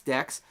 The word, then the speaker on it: DEX: cryptocurrency people and financers pronounced in the same way decentralized exchange d-e-x decks they pronounce centralized Exchange c e x as sex I'm sending Bitcoin to